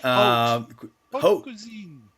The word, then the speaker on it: haute cuisine: to, I don't know how to pronounce hot cuisine, Oh, oot, oop. oot, right? Haute cuisine. Haute cuisine. Haute cuisine, right?